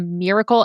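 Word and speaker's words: Mirakel: couple of things there's something called a miracle and it's spelled weird m i r a k l neck massager it's on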